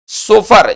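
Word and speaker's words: chauffeur: है उसको सोफर कहते उच्चारण इसका क्या होगा सोफर होगा चलिए तो इसमें याद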